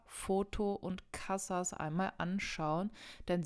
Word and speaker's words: foto: gehen wir zu Foto Foto ist ganz simpel wie im Deutschen Foto und das endet auf wo ist wieder ein Vokal und man sagt also Foto und nicht Foto oder so denn die Betonung liegt wieder auf der vorletzten Silbe dann haben machen wir